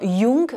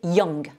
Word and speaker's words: young: Autre difficulté, c'est lorsqu'on est sur l'adjectif jeune, ne surtout pas dire young, mais young. She's a young person, c'est une personne jeune. Donc là, sur une première vidéo, j'avais indiqué de surtout pas dire famous, pour célèbre, réputé, mais dire famous. Donc là, c'est un peu la même chose. Ce OU, on le prononce avec le son schwa, ce son qui fait plutôt E et surtout pas OU.